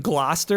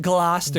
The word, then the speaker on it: Gloucester: anyone from Gloucester, and there's like you Oh, yeah. say it Gloucester.